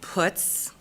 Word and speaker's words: Putz: Since we have such a wonderful relationship, my last name is pronounced Putz.